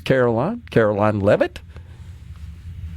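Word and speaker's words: Karoline Leavitt: that this morning but I believe you and I have pronounced that correctly it's Caroline Caroline levit president Donald Trump's press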